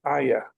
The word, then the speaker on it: AIA: to be able to describe our AIA. Um, forgive me for for the pronunciation. It's ayah. Okay, that's that's the way you you pronounce it.